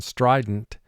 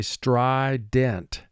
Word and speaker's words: strident: We would say in conversation strident, but for spelling, we say strident.